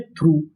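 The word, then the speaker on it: through: इस पूरी मीनिंग को हम लोग पढ़ते हैं दो। क्या पढ़ते हैं? दो। यहां पर हमारा यू जी एच ये हमारा साइलेंट रहता है।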